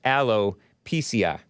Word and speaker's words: alopecia: oh that's nice yeah brandon m says alopecia is actually pronounced aloe pci see i was right that was my inclination but you know how there's alicia and then there's alicia and they don't like you pronouncing it wrong or something like that so it's alopecia i guess ragnar two 0321 states